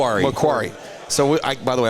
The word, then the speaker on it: Macquarie: Mquari. McQuary.